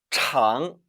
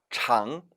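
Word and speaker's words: 长: 이 글자 원래는 장 이성으로 발음됩니다. 따라 읽어보세요. 장 이때는 길다라는 의미의 형용사인데 이 단어가 잘하다 라는 동사가 될 땐 따라 읽어봅니다. 장 삼성으로 변해요. 아울러 장 리더 라는 의미를 지닐 때도 역시 발음을 장 삼성으로 해야 합니다.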